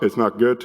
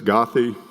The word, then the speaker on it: Goethe: It's not Goethe, it's Gothi. Paulina, not Paulina.